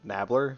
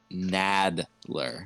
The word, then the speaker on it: Nadler: You said Nabler, so I said the Nabler, like he was some kind of villain. Nadler.